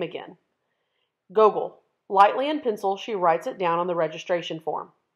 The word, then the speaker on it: Gogol: The way the principal pronounces his new name is different from the way his parents say it. The second part of it longer, sounding like heel.